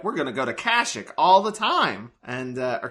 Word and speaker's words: Kashyyyk: And Star Wars has a similar thing where they're like, we're gonna go to Kashyyyk all the time. And, or Kashyyyk, I think is what it's pronounced. Kashyyyk.